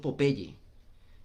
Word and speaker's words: Popeye: el famoso popeye pues resulta que popeye es una combinación de dos palabras la palabra pop como la del popcorn que es que explota salta ya que no se pronuncia a ella si no hay de la palabra o entonces es pop eye ojo que salta hay una para las